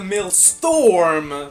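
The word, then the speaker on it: Maelstrom: Reduce the mill storm, please, because that's how you pronounce it. male storm of madness conversion ratio of dark magic to damage from 1.3 to 1.2.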